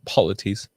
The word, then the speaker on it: polities: word of the day polities that's how you can say multiple political places and hierarchies in three syllables polities we need to demand